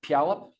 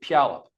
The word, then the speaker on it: Puyallup: I heard there's some people who kind of make the first syllable as if the U is gone and there's an apostrophe, like Puyallup. Anybody ever heard that? Like the Heward family, the famous football family from Puyallup. They say Puyallup.